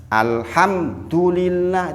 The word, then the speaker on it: alhamdulillah: samping kemudian mim tawasut mim tawasut artinya jangan berhenti mendadak Alhamdulillah itu Alhamdulillah itu keliru yang benar alhamdulillah alhamdulillah mimnya langsung ada